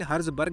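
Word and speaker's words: Herzberg: इसमें हर्ज़बर्ग लिखा हुआ है, यहाँ पे UPSC सिलेबस में भी ऐसे ही लिखा हुआ था, लेकिन हर्ज़बर्ग है ये, इसको प्रोनाउंस हर्ज़बर्ग करते हैं।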